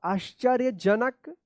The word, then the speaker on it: आश्चर्यजनक: कुछ दिनों बाद एक आश्चर्यजनक आधा तालब श च य के ऊपर रेफ की मात्रा ज न क आश्चर्यजनक दृश्य।